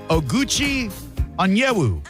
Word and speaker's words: Oguchi Onyewu: I could call him Gooch, but I'm going to go for his given name, and I'm going to say Oguchi Onyewu. That is perfectly pronounced.